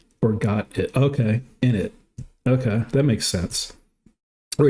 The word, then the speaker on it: init: You say it like init or got it. Okay, init.